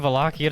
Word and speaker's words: Wallachia: Yeah, good thing Wallachia doesn't start with an F. In English, it's usually pronounced as W because that's what English does.